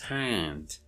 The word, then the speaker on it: hand: Of course, it is pronounced hand, but this is a broad transcription. But If you want to make it narrow, it becomes hand. The A is nasalized.